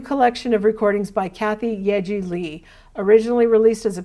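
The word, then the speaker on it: Yaeji: is a debut collection of recordings by kathy yeji lee originally released as a pair of eps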